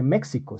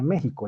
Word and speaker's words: México: imagino que que conocerán la equis no se pronuncia sino uno no dice méxico estaría mal mal dicho se dice méxico es decir todo lo que se escribe con x es se pronuncia con jota y eso tiene una